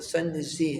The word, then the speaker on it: سنجزی: اسی وجہ سے سنجزی، اس کو لوگ سنجری کہتے ہیں، لیکن اس کا جو تلفظ صحیح ہے وہ سنجزی ہے۔ اسی طرح آپ رحمۃ